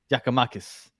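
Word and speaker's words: Giakoumakis: I forget how to even pronounce his name. Giacomakis.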